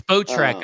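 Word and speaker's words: Spotrac: track here um or SPO track I never know how to pronounce it it's boat track apparently okay all right so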